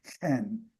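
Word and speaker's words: ἕν: In Greek, I showed you this in Greek, the tohen, the en in Greek has a rough breathing mark in front of it, so it would have been pronounced hen, the tohen, the one.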